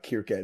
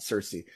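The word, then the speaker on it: Circe: uh Odyssey fame um in ancient Greek would probably have been uh kierke not Cersei but you know yeah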